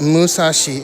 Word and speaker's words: Musashi: The number Musashi 634 is also an intentional pun. which can be pronounced Musashi in Japanese.